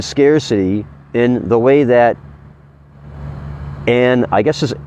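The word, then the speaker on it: Ayn: in the way that and I guess this a yn is pronounced an an rand describes in the quote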